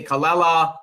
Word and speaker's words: Callella: I say Callella. That's how I pronounce his last name.